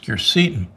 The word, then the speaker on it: quercetin: One of my favorites is quercetin, sometimes pronounced quercetin.